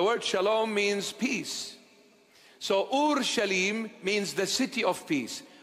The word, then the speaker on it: Jerusalem: meanings it is shalim this is the proper pronunciation of the word it's not Jerusalem it's Ur shalim it's a compounded word two in one Ur